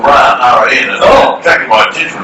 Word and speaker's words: Ran: the Royal Australian Navy, but it's pronounced Ran, and it's a Swedish word.